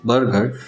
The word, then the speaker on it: burger: बर्गर, बर्गर, दोनों words के pronunciation same है। पहला जो वर्ड है बर्गर, जिसका स्पेलिंग है BURGER, जिसका मीनिंग होता है बर्गर।